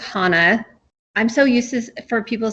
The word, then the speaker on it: Hanna: thank you wendy first off um it's it's pronounced hana i'm so useless for people say hannah a lot that i sometimes just like yep